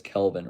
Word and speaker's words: Kelvin: It's Kelvin, not Kevin.